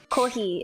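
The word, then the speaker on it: コーヒー: Kohi is how you say coffee, so you were kind of close.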